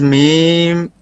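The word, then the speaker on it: ميم: हाजी साहब जी बोलिए जरा मीम का joining lips together, जी meme pronounced as meme, pronounces meme by joining both lips together.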